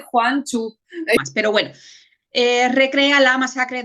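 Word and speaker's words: Gwangju: lo puse entre paréntesis se dice Juan chu Pero bueno recrea la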